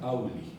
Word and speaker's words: auloi: Es como un doble cono alargado y entonces se escribe auloi, pero se diría auli, ¿no?